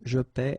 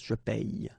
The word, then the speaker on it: je paie: Okay, and in that case it's quite funny because we tend to make the difference maybe in pronunciation. So between this one, je paie, and then some persons can pronounce je paye.